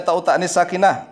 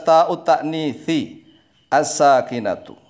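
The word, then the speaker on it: تاء التأنيث الساكنة: Jangan langsung dibaca ta'ut ta'nits sakinah, enggak jelas begitu. Tapi dibaca yang jelas, ta'ut ta'nithi as-sakinatu.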